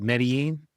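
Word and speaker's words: Medellín: He was born in a small town of Rio Negro, right outside of Medellin.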